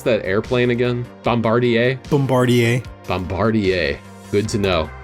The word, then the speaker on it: Bombardier: 500 Miles hey real quick how do you pronounce that airplane again Bombardier Bombardier Bombardier good to know France your language